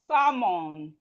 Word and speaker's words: salmon: Words with silent letter L. We have calf. Calf. The L here is silent. The L here is silent. We have K. A, calf, calf, calf, calf. We have half, half, half, half. We have salmon, salmon.